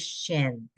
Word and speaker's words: shin: sh there you go it's a sh the letter is shin okay sh sh i